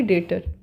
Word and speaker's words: debtor: डेटर लिखा रहता है DEBTOR, बट इसे हम प्रोनाउंसिएशन करेंगे डेटर, इट is correct pronunciation.